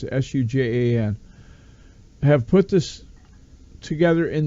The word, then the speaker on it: Sujan: And Neil and I think it's Sujan is how I pronounce it, Sujan, have put this together